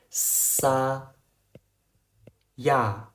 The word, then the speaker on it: saya: it that's enough Alright it's "sa" "ya" "Saya" If you can pronounce it like me then you've succeeded Do you understand what natural phonics is It means directly pronouncing "saya" without any changes You